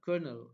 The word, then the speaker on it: colonel: questions what are the young girl and the colonel arguing about so we can say in this